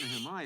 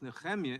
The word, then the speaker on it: Nehemiah: Claiming my time, I simply want to inform the chairman that the proper pronunciation is not Nehemiah, it's Nehemiah in the original Hebrew.